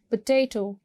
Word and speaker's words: potato: Potato. Potato को भी आप second syllable को stress करोगे.